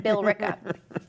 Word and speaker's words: Billerica: I say Bricka, so all right, I'll pronounce it. I don't want to be disrespectful. Billerica.